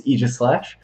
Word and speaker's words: Aegislash: In my mind, we had such a view of Aegislash. Which is the official pronunciation. It's kind of weird, but it's Aegislash.